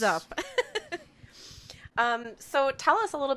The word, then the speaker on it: Zup: And it's spelled Z-U-P.